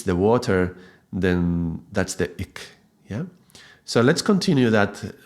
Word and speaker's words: Ik: It doesn't matter because the important is how you pronounce it, but there is no real exact vowels in English between these two vowels. The sound is ik, yeah?